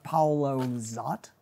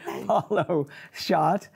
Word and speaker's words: Paulo Szot: maybe a mix of the two, including Stark, Paolo Zott. Did I pronounce that? Shot. Yeah. Okay, yeah. Thank you. I stand corrected. Paolo Shot and Stark Sands, along with Betsy Wolfe and Lorna Courtney.